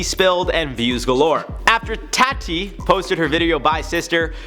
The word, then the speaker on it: Tati: I say it like Tati because last time I called her Toddy or Tatty, and you guys got mad, so I'm emphasizing the T. Tati.